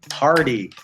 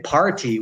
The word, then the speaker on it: party: Now, "t" in the middle of a word, often, because we're kinda lazy, at least North-American English, we pronounce it like a "d", we say "pardy", we don't say "party", we say "pardy". We don't say "pretty", we say "predy". We don't say "computer", we say "compuder".